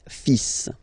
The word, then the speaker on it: fils: Okay, so it's le, and then even if you've got this L, well, basically you don't pronounce it, and then strangely you pronounce the final S. le fils, le fils, le fils, le fils.